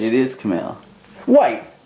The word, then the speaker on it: Kamau: it was like Cal but it's it is Camal wait it's Camal it is Camal stop just wait I've been told that it's it's not kamu it's it's a five letter name I don't